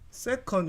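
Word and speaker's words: second: 하지만 영어도 배웠기 때문에 세컨드의 드가 D 발음이죠 묵음이에요 그래서 세컨드라고 읽어도 되고 좀 내가 미국식 발음을 하고 싶다 하면 세컨 이렇게 묵음을 처리해야 됩니다 세컨 이렇게 또는 세컨드가 초이기 때문에 초속 5m 무금이란게 뭐냐면 김기범 친구 무금이라는게 뭐냐면 d라고 적혀 있지만 안 읽어도 되는 거죠 영어 시간을 해봅시다 5m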